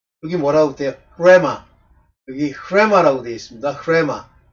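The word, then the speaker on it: ῥῆμα: 레마 여기 레마라고 되어 있습니다.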